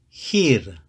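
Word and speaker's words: χείρ: combination of the Epsilon and Yoda it is pronounced here here means hand it is feminine so it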